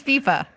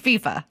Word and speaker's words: FIFA: It is FIFA. The guys are telling me it's FIFA.